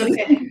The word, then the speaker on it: Alleyne: But it's Alleyne. okay. I've had so many different pronunciations of that name over the years, so it is okay.